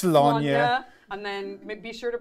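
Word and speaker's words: Slaanesh: Our Brit wrote my notes for me and was like, it's Slanya. And then be sure to pronounce it Warhammer 40,000.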